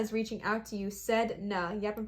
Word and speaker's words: Sedna: Sedna. Yep, I'm pronouncing that right.